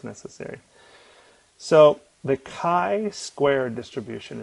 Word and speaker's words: chi: it's necessary so the kai Square distribution it's usually pronounced um or spelled how do they usually spell it chi I think uh so Kai Square not chai square Kai not the chai